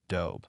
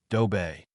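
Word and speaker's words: ドベ: Do by basic English pronunciation, this word has only one syllable, pronounced do with a very soft B sound. Japanese pronunciation dictates two distinct syllables and a stronger B sound, dobe.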